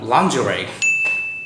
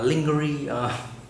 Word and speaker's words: lingerie: school or you know lingerie that is a difficult word like in the past I used for to pronounce it like lingering you know I feel